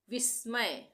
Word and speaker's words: विस्मय: हो रहा है तो आधे स का उच्चारण हो रहा है यहां पे विस्मय विस्मय अगर पूरा स होता तो हम क्या बोलते विस्मय विस्मय तो यहां पे आधा स है इसके लिए हम क्या उच्चारण करेंगे विस्मय विस्मय विस्मय चमत्कार यहां